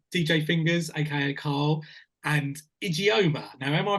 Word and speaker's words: Ijeoma: The Syndicate aka DJ fingers AKA Carl and idioma now am I pronouncing that correctly you're good you're good you're